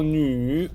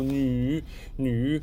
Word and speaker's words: 女: So 女, just be careful, the pronunciation is has a tricky yu sound. So 女.